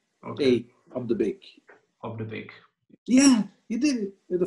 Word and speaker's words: Op De Beeck: Okay, it sounds like a bakery. Op De Beeck. Op De Beeck. Almost. Okay. A Op De Beeck. Op De Beeck.